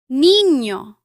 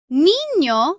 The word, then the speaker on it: niño: Its sound is similar to the N-Y combination in the English word canyon. Listen to these examples. Niño, año, España. Niño means boy or child.